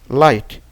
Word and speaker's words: light: Mais quand le GH est suivi du T, donc le T se prononce, mais le GH ne se prononce pas. Exemple, right, light, night, light, right, right, light, night.